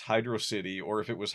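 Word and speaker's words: Hydrocity: 3, I believe, called Hydro City was actually pronounced Hydro City or if it was Hydroity.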